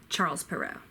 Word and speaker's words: Charles Perrault: a pickle shot BAE hope sharp arrow or charles perrault ab a play boast or innovate play boast